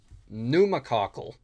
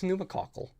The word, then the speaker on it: pneumococcal: Uh, and it's called pneumococcal.